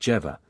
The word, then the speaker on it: Jehovah: by the letter Jodi whence Jehovah should be pronounced jeeva and this point leads